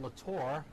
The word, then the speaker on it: Latore: My correction on the pronunciation, it's Todd Latore.